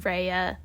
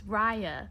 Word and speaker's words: Raya: raya you keep saying reya well it's spelled r a y that's rey that's rey yeah that's right yeah yeah if you listen to them say her name it's raya okay i mean i